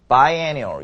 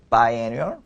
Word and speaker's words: biannual: paraphras가 되냐면은, 일단은 보시면, 발음도 좀 많이 중요하겠죠. biannual, biennial. 뭐라고요? biannual, biennial. 뭐라고요? biannual, biennial. 따라서 한번 해보세요. 자, 뭐라고요? biannual, biennial. 좀 차이가 있죠? annual, annual. 이렇게 좀 차이가 있어요.